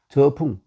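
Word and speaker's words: 諸: 저풍속 얘기하고 혹은 여럿 이럴 때는 재라고 읽고 재 재갈량 혹은 뭐 우리이 제갈 씨도 있지만 제시도 있죠 그리고 어 또 여러 명 할 때 재군 뭐 재군 제군들은 할 때 제라고 읽는데 여기서는 지명일 경우에는 저라고 읽습니다 저 풍 풍이라 곳에서 태어났고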